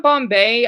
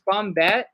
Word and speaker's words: Bombette: running I know um is not Bombay I know said it wrong this is what it's type dumb about is bombette it's it's like it's French so yeah it's a